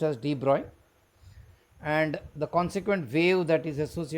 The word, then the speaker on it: de Broglie: It is spelled as Dbr but it's pronounced as Droy and the consequent wave that is associated is called Droy waves.